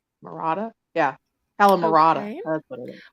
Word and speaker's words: calamarata: Calamarda, I believe is how it's pronounced. Marata? Yeah. Calamarata.